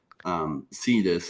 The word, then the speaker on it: Sidus: But Sidus is how he pronounces it.